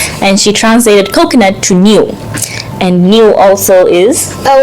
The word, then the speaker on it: Niu: she translated coconut to Niu. And Niu also is... Oh, well, phonetically it sounds like New, N-E-W.